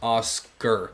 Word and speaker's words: Asuka: this character is from when a word ends with k-a you have to add a hard r at the end so asuka becomes oscar and that's the way it's supposed to be pronounced so let your friends